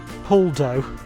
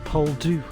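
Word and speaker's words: Poldhu: trusty sign post head I've been pronouncing it's pole do uh see I do these things completely wrong it's not po do it's Paul do apologies people Paul do Cove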